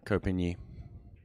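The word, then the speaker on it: Ko Pin-yi: And I don't know how to pronounce his favorite player. Kopinyi.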